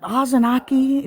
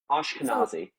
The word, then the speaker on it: Ashkenazi: The Azenaki. Did I pronounce? The Azanaki Jews? What are they? Pronounce it for me. No, we can go with Azanaki. Just pronounce it. If you know better, just say it. I'm not offended. I'm intrigued. I'm intrigued on your background on this issue. Ashkenazi.